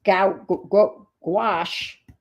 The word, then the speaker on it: gouache: pretty dark her all the gouache rhymes with squash her olive green gouache